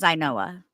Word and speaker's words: Inoa: you wish but um her real name her name is inoa she just writes it out the way she writes it so you know how to say it thank you for that